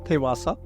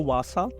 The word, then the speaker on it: Thivasa: Yes, the name is pronounced as Thivasa. Thivasa. A lot of people also call it the Vasa.